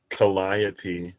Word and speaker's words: Calliope: Or it might be Lithy, because like Calliope, the PE is pronounced.